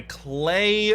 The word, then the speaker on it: Klei: My name is and welcome to Oxygen Not Included, a new space-based simulation game by Clay, rhymes with Play Entertainment.